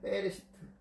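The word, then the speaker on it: בראשית: 베레시트. 엄밀히 따지면 베레시트라고 읽어요. 베레시트. 창조, 창조.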